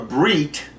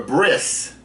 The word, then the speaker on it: brit: Yiddish, that they will, if there's a tav at the end of a word, they will pronounce it with an S sound. So if you're going to a brit, you're going to a bris, you understand that it's a brit.